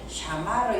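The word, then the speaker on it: שמר: 그러니까 무조건 알았는데 살아야 되는데 처음에 나오면은 사 이렇게 샤마르 이렇게 한 발음이 좀 어렵기 때문에 이걸 그냥 부드럽게 하기 위하여 샤마르 이렇게 읽는 거예요.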